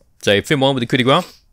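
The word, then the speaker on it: coup de grâce: So Finn won with the coup de grace. They keep pronouncing the S in coup de grace, by the way, which annoys me.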